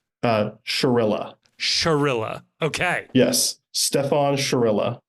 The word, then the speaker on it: Chirila: the question on everybody's mind how do we pronounce stepan's last name it's uh Shilla Shilla okay yes Stefan sherill Stefan Shilla not Chilla which is what I think I was saying